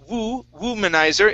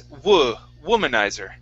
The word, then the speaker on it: womanizer: And here instead of womanizer, it's womanizer. Womanizer.